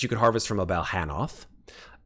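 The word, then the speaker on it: Balhannoth: It is pronounced Balhanoth.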